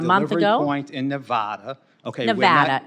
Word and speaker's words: Nevada: information over a month ago in Nevada okay Nevada it's Nevada sir please say it correctly it's